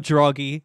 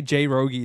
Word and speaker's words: Droggy: Wait, is it actually Droggy? I think it's funny to say J Rogie though. I think that's funny. No, I'm not calling it. I'm gonna say J Rogie. Fine, I'll say Droggy. That's crazy. All this time and it's been like a year and I've never said it right. I've always said J Rogie.